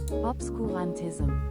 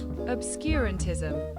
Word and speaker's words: obscurantism: Obscantism. Oh, that's obscurantism. Obscurantism.